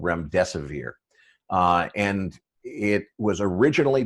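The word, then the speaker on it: remdesivir: major pharmaceutical company has a drug uh probably mispronouncing this but i believe it's called rem desevere uh and it was originally developed to treat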